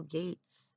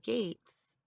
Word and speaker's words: Gates: So, Bill Gates, okay, did COVID, and this is how I know, okay? His name rhymes with hates, okay?